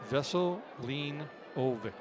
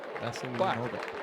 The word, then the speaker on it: Veselinovic: And we talked about it, and it is pronounced Veselinovic, but okay, Veselinovic. He says it is an itch because it's Serbian, but we pronounce it Vic, so it's Veselinovic.